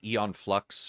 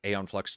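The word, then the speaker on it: Æon Flux: not been done since maybe Eon flux or Aon flux depending on where you are and how you pronounce it from like liquid metal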